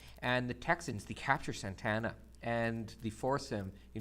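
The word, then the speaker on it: Santa Anna: him and Santana as is pronounced not Santa Ana is pronounced Santana he's the dictator of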